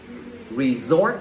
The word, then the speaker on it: resort: các bạn cái resort khu Nguyên dững phải đọc là gì resort giùm thầy cũng là nhắn vào thứ hai